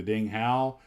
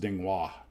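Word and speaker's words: Ding Hao: and I grew up calling that airplane the Ding Halo. Then I met a lady in Chinese. It's pronounced Dingwa.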